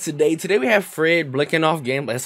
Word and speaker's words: Biletnikoff: for you guys today today we have Fred blicking off game that's how you pronounce his last name so I hope you